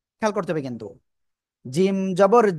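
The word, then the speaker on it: جيم: ওকে, জিহ্বার মধ্যখান তার বরাবর উপরে তালুর সাথে লাগিয়ে উচ্চারণ করতে হবে। জিম, তিন আলিফ টানে উচ্চারণ করতে হবে। জিম।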